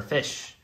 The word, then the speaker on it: ghoti: just said fish uh goatee is an alternative pronunciation for fish if you see the GH like you say it in enough if you say the O as you say it in woman women and the ti as